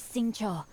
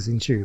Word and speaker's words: Xingqiu: be passing by well I've been pronouncing his name wrong the entire time I've been saying since you but saying sure slight insulation uh difference since you and I